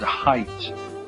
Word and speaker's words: height: spelling don't forget okay words with silent G okay like weight and height okay the G and H or silent weight okay so remember the GH silent G also another rule okay